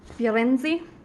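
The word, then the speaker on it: Firenze: to Florence and this we say Florence but in Italian it's yo NZ like fur NZ from Harry Potter don't mind me about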